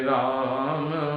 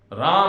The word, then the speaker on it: राम: कुल मिलाकर इस कीर्तन को भी राम और कृष्ण के शब्द के उच्चारण के साथ ही करना चाहिए, न कि मनमाने ढंग से राम को रामा कृष्ण को कृष्णा।